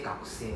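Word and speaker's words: 学生: You realize I don't pronounce the U, right? The U is silent, huh? I don't say gakusei, huh? I say gakusei. I don't say gakusei. I don't pronounce the U, huh?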